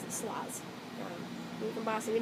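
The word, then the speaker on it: sarloz: on Ravelry as SAR Rosie s-a-r-l-o-z um I pronounce it slaws you can boss them you know pronounce our eyes so slaws um it's a username I use for everything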